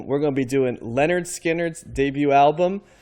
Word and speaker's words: Lynyrd Skynyrd: We're going to be doing Lynyrd Skynyrd's debut album, pronounced Lynyrd-Skynyrd, just in case you were wondering how that would be pronounced.